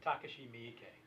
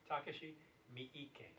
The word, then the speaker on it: Takashi Miike: I can't pronounce his name. Miike. Say his name. Takashi Miike. Takashi Miike.